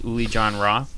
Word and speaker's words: Uli Jon Roth: in Plymouth and uh performing tonight here is ulie John Roth did I get a pronunciation of that right yeah oh figured I'd